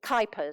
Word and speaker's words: Kuipers: a program by Leah Kuipers, and it's Kuipers, sorry, I must say it correctly, and it's to help